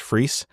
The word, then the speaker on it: Fries: Because I just don't think it's pronounced the same as my last name, which is pronounced Fries, right?